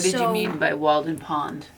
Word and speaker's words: Walden: Okay, what did you So- mean by Walden Pond? A wall. Like we pronounce it like a wall.